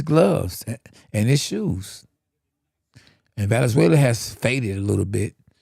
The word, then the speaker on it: Valenzuela: How you pronounce it again, SB? Valenzuela.